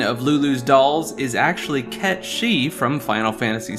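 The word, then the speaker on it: Cait Sith: Fantasy 6 one of Lulu's dolls is actually KET shei from Final Fantasy 7 and yes that is the Canon pronunciation of the name as previously mentioned Cloud's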